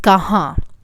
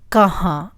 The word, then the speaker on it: kahan: In the next one, we're going to include another interrogative word, which is kahan. Kahan. There is a nasal sound in the end.